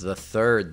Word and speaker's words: Thethard: It's pronounced the third, though.